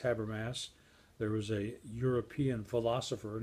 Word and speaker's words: Habermas: And what Habermas says here, by the way, it is pronounced Habermas.